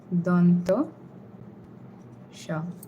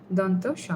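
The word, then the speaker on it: দন্ত্য স: In these kind of cases, we usually pronounce it as s. Otherwise, when it's by itself, like the examples I gave, we say sha. So, this is one letter that can take on both of these pronunciations. And like I said, we have three s's. So, we have three names to identify them separately. This one is called donto sha. Donto sha. Donto means dental and this is the one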